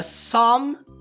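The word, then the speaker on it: psalm: chamado de salmo bom isso aqui nós não pronunciarmos com o p portanto se você quiser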